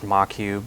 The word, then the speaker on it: Moq: includes some frameworks like moq usually pronounced machu but it's kind of